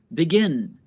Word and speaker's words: begin: Listen to how the last syllable of each verb is stressed. Begin, forget, submit. Listen to where the stress is again. Begin, forget, submit. The last syllables are stressed, so we have to